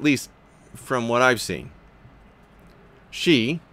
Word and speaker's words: Xi: from what I've seen she pronounced again X I pronounce she is threatening Hong Kong